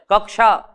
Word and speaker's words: कक्षा: यह बात याद रखना जब छह बोलेंगे तो हल्की सी का ध्वनि का उच्चारण भी होना चाहिए क्यों क्योंकि ये जो मूल बनावट है ना वो का सही है शुरुआत कहां से हो रही चाहे भले थोड़ा सा बोले कक्षा ठीक है सक्षम